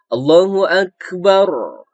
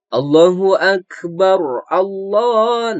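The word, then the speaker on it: الله أكبر: Kalau kita membacanya seperti ini, Allahu Akbar, Allah. Nah, itu keliru teman-teman ya. Itu kan bacaannya terdengar disambung. Jadi kalau disambung membacaannya jadi barullah bukan bar Allah.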